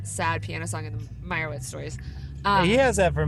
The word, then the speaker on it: Meyerowitz: How do you say it? Meyerowitz.